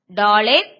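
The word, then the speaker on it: דָּלֶת: அடுத்து டாலர், டா லே இத், டாலேத். ஆனா நம்ம டாலத் அப்படி சொல்லுவோம்.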